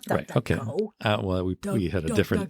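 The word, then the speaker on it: DuckDuckGo: privacy browser remember Epic Duck ducko is spelled like Duck Duck Go Duck Duck Go yeah just do a Google search for duck ducko duck like not duck duck duck yeah like the game Duck Duck Go yeah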